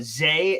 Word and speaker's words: Za: His full name is Zaquan Frazier, but he goes by the nickname Za. It's pronounced Zay, excuse me, is another part of his name as well that he's has coming in here.